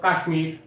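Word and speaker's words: কাশ্মীর: উচ্চারণ করি না এখানে উচ্চারণ হইছে মটা আছে উচ্চারণ হইছে এ হচ্ছে এই নিয়ম আবার কাশমীর কাশমীর একটা সংস্কৃত শব্দ এই সাথে দেখ আমরা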